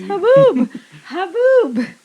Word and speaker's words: haboob: regularly in dry land are you sure you're pronouncing it right it's haboob h-a-b-o-b just i thought i was gonna be